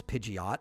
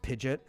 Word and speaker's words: Pidgeot: one of them uh pidet which everybody says Pidgeot and the the anime does that as well um but it's pronounced pidet and another of the big ones is guidos